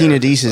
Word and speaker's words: tenodesis: Tenodesis so- is a surgical attachment of a detached tendon onto a bone.